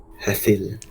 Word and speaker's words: Hethil: Hethil. Hethil, that's it. I was trying to make it a hit sound for Hethil.